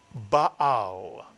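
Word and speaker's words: בעל: The second syllable begins with the silent ayin. You put the word together, it is Baal, or very often simply read as Baal.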